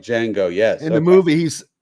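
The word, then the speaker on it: Django: Jango like d Jango the D is silent The The J no the de asy the Dey yes like Jango yes in the movie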